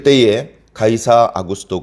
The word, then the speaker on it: 가이사: 있습니다 가이사 아구스 돋아 가이사 라는 말은 뭐 영어식 발음으로 가면 씨저 라고도 하고 아아 9 수도는 이